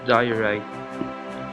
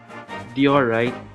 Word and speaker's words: diorite: bring this very precious diorite even though I pr I mispronounce it as diorite I learned it is pronounced as diorite right for some of